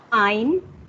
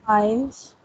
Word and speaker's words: ein: Ein, Eins. not eins, ein. Ein. We have removed S here, na, from Yes.